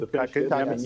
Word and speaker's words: Kotkaniemi: You pronounce them. Jesperi, Kotkaniemi. Kotkaniemi, yeah.